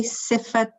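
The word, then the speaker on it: صفة: Sheikh, can I just ask you, did you say Sifat how did you pronounce it, please?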